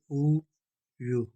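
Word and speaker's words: 우유: ये वावल हरफ है ऊ, इसके ऊपर इंग लगा हुआ है, ये ज़ीरो था। ये साइलेंट है, खामोश आवाज़ देता है क्योंकि कंसोनेंट हमेशा पहले शुरू होते हैं और जहाँ पर वावल शुरू होता है उसके साथ इंग लगाते हैं। ऊ यू बोलते हैं मिल्क को।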